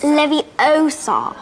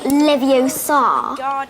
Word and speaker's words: Leviosa: someone's eye out besides you're saying it wrong it's Levi Oar not Levi Oar you do it then